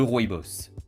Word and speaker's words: rooibos: Le rooibos se prononce rooibos.